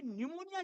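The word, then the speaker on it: pneumonia: मुझे निमोनिया हुआ और मुझे यह पता चला कि निमोनिया की स्पेलिंग एन से नहीं पी से शुरू होती। कहते हैं पी साइलेंट है।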